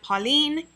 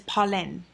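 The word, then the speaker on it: Polène: French finally corrected me I was pronouncing the name wrong I would call it Pauline and it is pollen and I can't even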